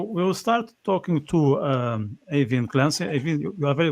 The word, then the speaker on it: Aoibheann: I think that's the most important question, AOIBHEANN. Am I getting your name correct? Yeah, you are. It's pronounced a bit differently by everyone, but yeah, you're spot on with it.